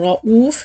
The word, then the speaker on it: رؤوف: لما بقول رؤوف دي همزة ما بنطقش الواو خالص، والمد اللي بعديها اسمه واو مد بدل حركتين.